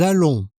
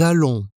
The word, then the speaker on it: allons: Nous allons. Nous allons. Là aussi, le S final ne se prononce pas et nous avons le son nasal on.